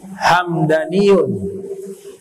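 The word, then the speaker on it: همدانيون: Kalau Hamdani nama suku dalam kitab Lisanul Arab, Ibnu Manzur mengatakan Hamdaniyun gobilah minal Yaman. Hamdaniyun itu satu suku yang ada di Yaman. Dibacanya mimnya sukun, Hamdaniyun.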